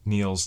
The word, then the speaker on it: Neil's: It rhymes with Schneal. Niels? Neil's Donuts in Wallingford, Connecticut.